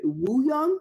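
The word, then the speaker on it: Wooyoung: And him and was it Woo Young? Is that how you pronounce his name?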